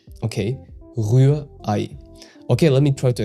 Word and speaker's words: Rührei: So for the Ü, you need to round your lips and keep the vowel kinda high in your mouth. And you pronounce the EI like the English I. And the mistake most learners make is 1. Dropping the H and 2. Making the Ü into a plain U, which instantly makes the sound foreign.